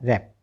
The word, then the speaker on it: wrap: तो WRAP वैप नहीं बोलना है। देखो W का उच्चारण वह होता है ना, ठीक है। W का उच्चारण क्या होता है वह, अगर आपने पूरा उच्चारण कर दिया तो वैप बोलेंगे, लेकिन वैप नहीं बोलें क्योंकि यहाँ पर तो W साइलेंट है। तो इसमें क्या रह गया, अब RAP तो रहा रैप।